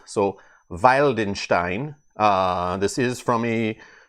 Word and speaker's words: Wildenstein: me yesterday V uh W's are pronounced like V's so Valenstein uh this is from